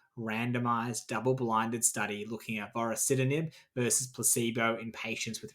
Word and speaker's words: vorasidenib: Josh, why don't you take us away on our final ride, one last ride, with Indigo, the study of vorasidenib, that's how you pronounce that word, in gliomas.